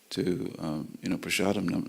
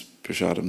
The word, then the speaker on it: prasadam: We always pronounce prasadam the way Prabhupada pronounced it, with the Bengali sh. In fact, every S we pronounce as sh. Nrsingadev, isn't it? Nrsingadev, prasadam. Okay. Whereas elsewhere in India, it's Narasimha or Narasimha or prasad.